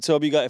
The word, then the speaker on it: Zörbiger: Beim Zörbiger FC. Das ist ja auch die richtige Aussprache, stimmt's?